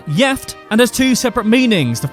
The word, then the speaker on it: gift: One Swedish word that's about the same as the English is gift, but is pronounced gift and has two separate meanings, the first of which means married.